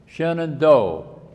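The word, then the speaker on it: Shenandoah: The arranger for this song suggests that we read it with sing it with three syllables. Shenand do.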